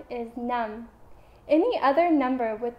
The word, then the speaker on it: năm: The number 5 is năm. Any other number with the number 5 in it is pronounced lăm.